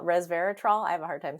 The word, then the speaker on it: resveratrol: story um that the res I can't even pronounce that res I think it's resveratol Resveratrol I have a hard time saying it yeah